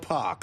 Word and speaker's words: Pac: Now, it's X Pac or Pac. So, like Tupac, more or less spelled the same, but you go with Pac, right? There's a story behind it, but Okay. What is it? Well, u Hogan would call me pack, like as in six-pack, like a six-ack of beer.